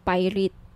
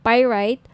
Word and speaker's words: pyrite: gusto niyo ng bracelet ito ung pirate pirate Sorry pirate ung iba pronunciation pirate pyrite Okay 1,980 each may may